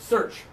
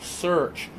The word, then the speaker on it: search: with this one first search for this one we're going to push our lips forward and open a pepper you're doing